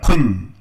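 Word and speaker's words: כון: 원어로 이렇게 부릅니다. 쿤. 따라해봐요. 쿤. 정도라는 말이 쿤이라 그래. 쿤. 쿤밍이랑 쿤. 발음이 쿤이에요.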